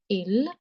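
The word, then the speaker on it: ils: And there is also this rule in French, when you add S to some word to make it plural, that S is silent. Okay, so the pronunciation of this is il and l.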